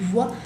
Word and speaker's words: vois: Je ne vois personne. Je ne vois personne. Acuérdense que la B corta en francés, bien, tiene que vibrar.